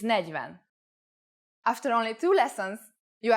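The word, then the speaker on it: negyven: time for Olivia's tips make sure you pay attention to the pronunciation for example 20 is whose with a long u but 21 is who's on edge with the U pronounced short four is need but 40 is negiven after only two lessons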